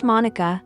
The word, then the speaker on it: Monika: to hear that Monica just Monica no need for the last syllable people often add an a to the end of my name and it drives me nuts don't you think that's so